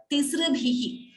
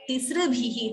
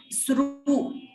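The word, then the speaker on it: तिसृभिः: So sr, this letter here, tisribhihi. It is not sru. So that would be wrong. It is not sru. It is neither sru nor sri. It is a what we call a gunitaksharam in Sanskritam. That is the vyanjana s is combining with the swara r. And we pronounce it as tisribhiravasaneshu, like Krishnaha. So these words we should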